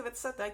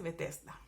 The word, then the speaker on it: Betzatá: Mi versión dice Betzatá, que es un nombre pronunciado de acuerdo al alfabeto hebreo, pero probablemente en su Biblia dice Betesda, ¿ya?